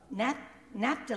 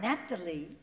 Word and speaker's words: Naphtali: So it's also Naphtali. I want to make sure I say it right. Naphtali, or Naphtali, you can say it both ways, okay.